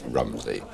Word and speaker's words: Romsey: or around Romsey, is what is the correct pronunciation? I have always said Romsey. There are those locals who always say it's Romsey. And the Romsey, they say, goes back to the old Saxon spelling, R-U-M-S-E-G-I-N-E.